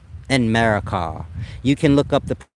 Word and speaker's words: Enmerkar: I guess y'all pronounce it Enmerkar, but it's like America. Enmerkar.